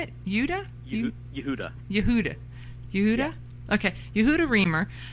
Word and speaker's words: Yehuda: Yehuda.